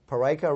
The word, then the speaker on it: Peraica: Parika rhymes with America.